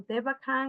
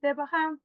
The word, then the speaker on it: Devachan: That is what in theosophy is called Devachan or Devakan or Devahan, depending on how the pronunciation is. I think the right pronunciation is Devahan.